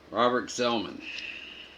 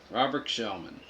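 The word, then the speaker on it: Gsellman: Robert Zellman. Robert Shellman. Not sure how to say his name. G-S-E-L-L-M-A-N. I'm doing it kind of like an X.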